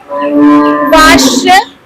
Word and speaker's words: vache: Vache.